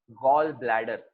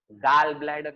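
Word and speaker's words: gall bladder: यस, the part which is present is कॉल्ड एज गॉल ब्लैडर। Okay, गाल ब्लैडर नहीं pronounce करने का, उसको spelling देखो GALL है, बट इट is pronounced as गॉल ब्लैडर।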